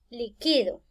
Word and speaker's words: liquido: Acá aparentemente está la misma palabra, pero ya no se pronuncia igual. Ya no voy a decir liquidó, porque vean, no le encuentro tilde por ninguna parte. Entonces voy a decir liquido. Yo liquido al trabajador.